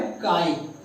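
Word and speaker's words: χ: बच्चों एक चीज ध्यान दीजिएगा, ये इस साइन का स्पेलिंग होता है CHI और इसको पढ़ाया जाता है काई। पढ़ने का सही तरीका है काई, CHI काई।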